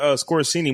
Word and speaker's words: Scorsese: They got another Scorsese movie coming out.